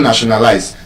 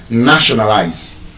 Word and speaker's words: nationalize: When you have any quadrisyllabic word, a word that is 4 syllable and above, and that word ends with ARY, ISM, IZE. That word will be stressed on the first syllable.